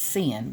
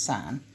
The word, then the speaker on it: sine: and spell it out I need to put that EE on sign that would people don't think it's sin but it's sign tangent is opposite over